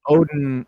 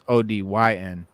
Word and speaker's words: Odyn: It's not Odin. It's not Odin like the Norse god. Odin. Odin. It's Odyn.